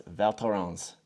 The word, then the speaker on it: Val Thorens: We are here in Valerons, France. And uh you called me out on this last time and I asked Victor Daroo how to pronounce it because he's from here and it's Valtron.